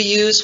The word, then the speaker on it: as: English, as, which we use whenever we make comparisons, as quick as fast as nice as. We never pronounce the full form of as. We reduce as to us.